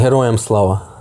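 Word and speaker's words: Героям слава: Heroyam slava.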